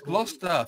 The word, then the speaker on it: Gloucester: to be what glad Chester right now is Gloucester for Christ's sake I don't even know I